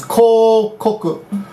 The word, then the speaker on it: 広告: That means that kanji alone means hiroi, but in this pronunciation is kokoku.